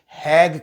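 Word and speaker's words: Hague: उनका अमेरिका के साथ एक कांट्रैक्ट है इसको हैग कहते हैं हैग एच ए जी यू ई वो एक हैग कांट्रैक्ट है स्पेलिंग आगे पीछे हो सकते है माजर तो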